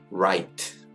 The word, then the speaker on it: write: 그래서 대표적인 것이 바로 write, 쓰다, writ인데 여기서 r부터 소리가 나는 거죠. 그래서 실제로 보면 r하고 i하고 t 세 개만 발음이 되고 맨 뒤에 있는 e도 묵음이에요.